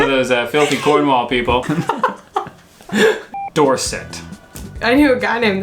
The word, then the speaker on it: Dorset: Dorset. Dorset. Sometimes she pronounces the E like an A, and other times it's like an I. Mm-hmm. But she never pronounces it like an E.